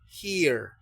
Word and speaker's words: here: Entonces, si la e va a ser pronunciada como i, esto se quedaría here, ya que la e final es muda.